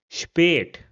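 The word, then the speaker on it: spät: So for example in this word over here if I replace the al with a and y then it will be pronounced as spate which means late and it has a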